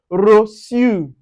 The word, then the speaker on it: reçu: Now, anywhere you see the C with cédille, with that C, cédille with A or O or U, you pronounce it with S. That's the soft S, the S. Now, you can see it in sa. On this sa, also, we also have a garçon. Garçon. And you can also see it with reçu. On the reçu.